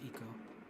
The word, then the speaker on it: ICO: you do it's awesome also it's pronounced eco 95 PCM magazine bottom